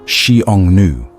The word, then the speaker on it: Xiongnu: Convince them to form a military alliance against a mutual enemy, the Xiongnu, pronounced Xiongnu, the fierce nomadic confederation that had been raiding China's northern borders for generations.